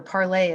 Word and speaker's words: Parler: can go over to parler parlay us as I think it's more correctly pronounced parlay is a alternative platform